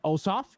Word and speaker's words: Ossoff: two democratic candidates john osof and rafael warnock i think i've heard it pronounced also awesome it's awesome you're right you're right